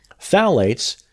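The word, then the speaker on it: phthalate: are manufactured with them phalates pronounced phalate I have to say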